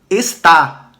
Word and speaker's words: está: veja que uma coisa o acento ele já dá uma sonoridade aberta para a gente o acento agudo esta está ou seja você vê que a sílaba tônica aqui ó esta está beleza já muda esta um pronome demonstrativo feminino